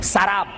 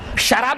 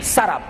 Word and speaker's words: سراب: میراج میں سراب، اس کو بعض لوگ سراب پڑھتے، غلط ہے وہ. قرآن حکیم نے جو تلفظ بیان کیا، جو پروننسیشن وہی صحیح پروننسیشن ہے. سراب، شراب نہیں، سراب.